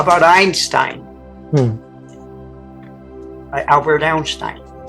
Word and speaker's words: Einstein: Does that E sound? No. Einstein. It doesn't sound. It's silent. Yeah. The first sounding letter is I, not an E, but it's spelled with the E.